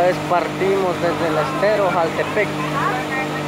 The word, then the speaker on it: Jaltepeque: Esta vez partimos desde el estero Jaltepec. Creo que se escribe Jaltepeque, pero se pronuncia Jaltepec.